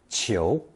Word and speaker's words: 裘: The final result is pronounced second tone chio.